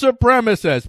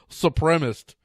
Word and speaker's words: supremacist: ever now who can't who can't pronounce the word supremacist ow it's supremacist please pronounce a word right for the love of everything that's decent please try to pronounce forward supremacist as supremacist enough supremists supremacy you're going to cite Nancy